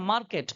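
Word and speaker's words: market: कि वो आर क्या रहेगा साइलेंट रहेगा उनको उच्चारण नहीं करना है कुछ एग्जांपल्स देख लेते हैं यहां पर लिखा है मार्केट हम लोग क्या बोलते हैं मार्केट ही तो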